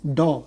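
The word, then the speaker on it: dough: सुना देगा NEET the डॉ डी ओ यू जी एच डॉ डॉग नहीं डॉ कुत्ता हो जाएगा डॉ तो नीड द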